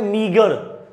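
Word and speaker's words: meagre: और यहां पे एक वर्ड है, इसकी प्रोनाउंसिएशन होती है मीगर।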